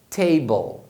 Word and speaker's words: table: Inclusive a pronúncia desse final sempre vai ser o som da consoante mais o L, porque esse E final não é pronunciado. Então você vai pronunciar nesse caso bull, table.